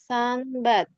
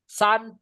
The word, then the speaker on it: sunbathe: Suitcase, destination, zoo, sunbath, Sunbathe. breathtaking view, This one is sunbathe, sunbathe. Good. sunbath, breathtaking view, guide. Good job. Don't forget, ini E-nya nggak dibaca bathe gitu sis Yani.